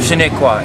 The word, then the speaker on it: Shinnecock: Shinnecock is how we pronounce our name.